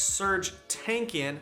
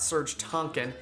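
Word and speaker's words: Serj Tankian: aragorn not eric gone it's serge tankian not serge tonkin and it's bernie warrell not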